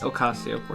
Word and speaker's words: Ocasio-Cortez: Forgive me if I'm mispronouncing this name. How do you? Ocasio-Cortez? Ocasio-Cortez.